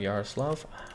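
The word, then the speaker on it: Yaroslavl: I'm going to start with Yaroslav. I've always assumed the L is silent.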